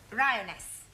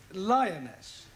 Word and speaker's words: lioness: feminine of the following lion roness lioness roness no l l r r you're not saying it right very sorry I know try saying roness lioness good well in future every time you see an L pretend it's an AR right Anna yeah feminine